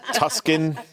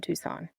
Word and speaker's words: Tucson: Isn't it Tuscan? Tuscan? It kind of looks like that, doesn't it? It sure does. Okay, so it's in Tucson, Arizona.